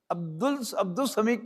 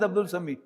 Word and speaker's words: Abdus Samie: But I spell it as I pronounce it. Because in the Arabic idiom, Abdus Samie cannot be pronounced as Abdul Samie. Though in writing the lam will be there. But in pronunciation it is not there.